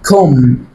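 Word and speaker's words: comb: طب يلا، هنا النطق الصح ليها كوم. النطق الصح ايه ليها؟ ايه؟ كوم، يعني مشط. يعني ايه؟ مشط. هنا البي ايه؟ سايلنت. البي سايلنت.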